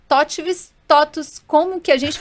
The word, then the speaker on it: TOTVS: É Totvis. Como que a gente pronuncia e por todo mundo faz essa pergunta para ele?